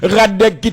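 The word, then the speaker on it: Hradecky: Lucas Radecki, ou après gagner un H devant RA, mais il pas prononcé vraiment, c'est ça fait que nous dit Radecki tout simplement, mais soit écrit non,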